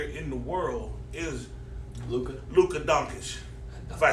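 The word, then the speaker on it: Dončić: The number one young player in the world is Luka Doncic. If I said it right. Doncic.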